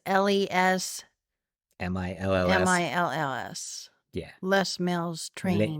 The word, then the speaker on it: Les Mills: Yeah, I've just been doing the less meals. I guess we've been trying to figure out how to say it. It's LES MILLS.